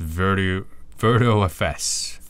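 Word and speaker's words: virtiofs: Stefan Hainosi says it's pronounced VirtuFS.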